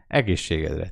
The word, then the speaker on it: Egészségedre: Egészségedre.